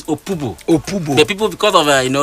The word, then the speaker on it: Opobo: He now named this place after Amaneabo Opobo, The actual pronunciation of that thing is Opobo.